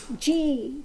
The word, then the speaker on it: ji: a play on words ji ji is a title showing respect pronounced the same as G so Swami ji is